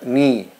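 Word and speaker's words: knee: la palabra rodilla se escribe caen y se pronuncia ni ni rodilla ni para el verbo detenemos agradecer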